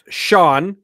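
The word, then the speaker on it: S'Yan: it's like San Jamaican it's SOS y a an pronounced Sha Sha the the brother of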